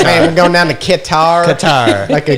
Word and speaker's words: Qatar: going down the Qatar Qatar like a guitar yeah guitar all right that's exactly it but that's not how you really pronounce it that's how they only know that foreigners can pronounce it so it's Qatar airlines